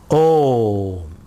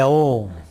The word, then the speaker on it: Om: And Om is made up of 3 syllables. We all know that. A, O and M. A, O, M. A refers to your waking world. A refers to the waking world. U refers to your dream world.